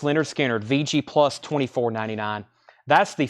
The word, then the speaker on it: Lynyrd Skynyrd: Starchild is not on that album and Lynyrd Skynyrd pronounced Lynyrd Skynyrd VG plus 24.99 that's